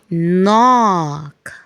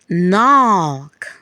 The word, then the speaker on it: knock: We call it a silent K. The K is silent. So we have night, knee, no, knock, knife, night. Can we repeat that? Night, knee, no, knock, knife, night.